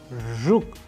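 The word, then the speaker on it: жук: be practiced with an english word approximation as we use in the word pleasure pleasure and in russian we have used another example like rook you pay attention to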